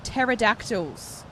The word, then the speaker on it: pterodactyls: have the Palm Beach pterodactyls I do like how that's still a p though this p is silent Aly 2 coloro cobras